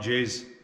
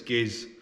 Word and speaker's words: Giz: It's spelled with a G. I'm going to say it sounds like Jizz, but he says it's Giz.